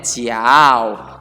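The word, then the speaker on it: 脚: itu adalah ciaw ya ini adalah bacanya ciaw nah misalnya sebut dua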